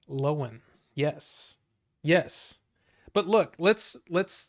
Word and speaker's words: Lohan: and that's apparently how you say it is lowen which I've been mispronouncing it for years but hey yeah bucho